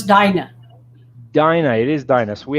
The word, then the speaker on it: Dinah: i'm pronouncing it right it is dina correct no it's dinah dinah it is dinos